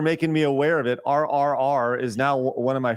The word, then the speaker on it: RRR: Invasion of India am I saying it right r r r yeah you are yeah because I always say